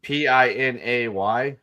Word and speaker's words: Pinay: Wait, which P-I-N-A-Y?